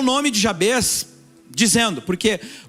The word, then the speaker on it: Jabez: de um homem chamado Jabez é assim que se pronuncia o nome dele e